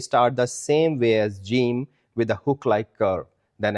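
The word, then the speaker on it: جیم: This is gimm the seventh letter of the Udu alphabet. It rhymes with dream and it sounds like the English letter J like J for jug.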